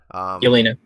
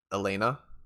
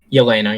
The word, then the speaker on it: Yelena: Yelena. Elena? Yelena, yeah.